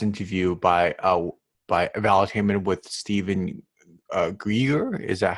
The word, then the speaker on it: Greer: I also recently watched a podcast interview by Enlightenment with Stephen Greer. Is that how you pronounce his last name?